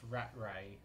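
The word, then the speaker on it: Rattray: so we're available to Barry Cassidy's telling us it's pronounced ratray I'll retro use it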